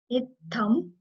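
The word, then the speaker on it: इत्थं: Itham. So this T, you can see you have to put like pressure over TT, H, th. It's th.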